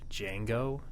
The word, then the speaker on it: Django: Do you think Jango Fett was named after Django? They're spelled D differently. is silent.